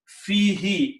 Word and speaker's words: fihi: Fi, when you read these together, again this who is pronounced as a he. Fihi, in it, in the Makkah.